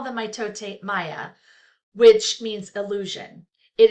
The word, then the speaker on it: mitote: It's mitote, pronounced mitote.